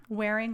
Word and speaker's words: Wehrung: everyone does it's okay wearing like wearing a shirt gotcha so now i